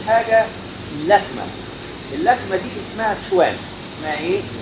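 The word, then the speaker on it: quan: حرف الكيو في اللغه الصينيه بيتنطق كانه سي اتش.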